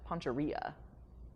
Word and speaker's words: Poncherello: Oh, the L's are not silent. Poncherello. Orilla. Poncherilla, got it.